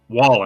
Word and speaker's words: Wallen: Wallen.